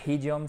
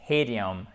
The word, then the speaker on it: idiom: C'est pas idiom, c'est idiom, idiom.